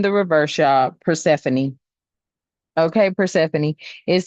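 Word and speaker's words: Persephone: Okay, Pphanie. It says go and and somebody taught me how to pronounce that. Okay, I was saying Popony.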